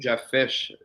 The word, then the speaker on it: Jedd Fish: And the fact that they retained Jedd Fish, that's how you say it, yeah.